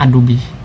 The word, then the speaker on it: Adobe: Tulisannya Adobe, tapi dibacanya Adobe.